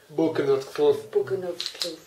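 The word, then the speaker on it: Boekenhoutskloof: And can you pronounce the name of your estate correctly? Buchenutkloof.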